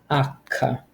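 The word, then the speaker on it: acca: sounds H is pronounced akka akka there's a hard C kind of sound now the letter i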